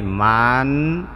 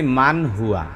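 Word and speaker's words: مَنْ هُوَ: তাহলে দেখেন আমি এখানে বাংলায় আবার একটু লেখা দেই, মান হুয়া। আচ্ছা, আমি এখানে লিখছি মান হুয়া। আমি যদি এটার উচ্চারণ ময়াকার মা অনুসার দেই, মাং বলি, তাহলে কি হবে? জি না, তাহলে এটা ভুল হবে।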